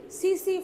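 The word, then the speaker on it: tsetse: disease soil that is cc fly t-a-c-t-a-c but pronunciation is cc fly these are all common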